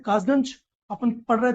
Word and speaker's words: कासगंज: अब ब्रिटिशर्स क्या थे, अंग्रेज क्या थे, वो का सही से उच्चारण नहीं कर पाते थे तो खा बोलते थे, तो उसी कासगंज को वो खासगंज बोलते थे।